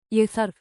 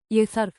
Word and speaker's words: Ég þarf: Think of the three-beat rhythm. Egg, beat one. Arf, beat two. Beat three. Pronunciation and rhythm. Let's train your mouth and your ear in under a minute. Say it slowly. Ég þarf. The letter sounds like the th in think.